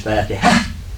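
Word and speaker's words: فاتحة: Most of us don't say it right. We just say Fatiha. It's not Fatiha, it's Fatiha.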